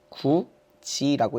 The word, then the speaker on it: 굳이: 자, 이렇게 써놓고 읽을 때는 어떻게 읽어요? 구지라고 읽어요. 이상하지 않았어요? 왜 저게 지가 되는지? 그러니까 구지라고 쓰는 바보들도 있는 거야.